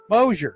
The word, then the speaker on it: Mosier: Why do I keep wanting to go Mosier? Mosier, just like it's spelled.